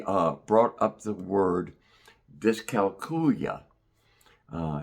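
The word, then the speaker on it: dyscalculia: brought up the word discalcula. Uh discalcula is the way some people pronounce it. Uh someone said it reminded them of the word Julia.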